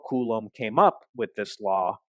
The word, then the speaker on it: Coulomb: Now, Coulomb's law is named after a French physicist, Charles Augustin de Coulomb, which I'm sure in its original French is pronounced something like Coulomb. But anyway, Charles Augustin de Coulomb was a French physicist